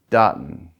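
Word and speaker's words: duhtn: And the first phonetic I want you to start dealing with here is um Dartton. And it's spelled D U H T N.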